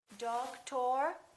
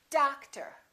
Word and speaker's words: doctor: one do we say dog tor or doctar no we don't we stress the first syllable we reduce the second therefore these two o's are also going to be completely different doctor how about this one